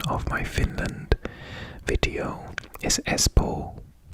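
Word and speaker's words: Espoo: finland video is espo i think this was pronounced i think in the video i hadn't done any finnish and i think i pronounced it as poo um but it's e-s-p-o-o which i think is s-po and we're going to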